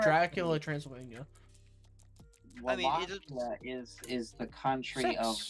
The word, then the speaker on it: Wallachia: So, Actually, it's pronounced Wallachia.